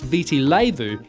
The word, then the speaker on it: Viti Levu: dinner-hour Island Marina the largest island visi levo pronounced Viti Levu is home to 70% of the population around